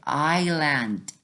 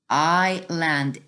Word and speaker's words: island: People are searching, looking for, exploring for hidden treasure on the island. Island is silent. S is silent.